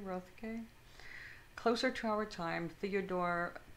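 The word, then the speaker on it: Roethke: uh i don't know how this man's name is pronounced road k rothke closer to our time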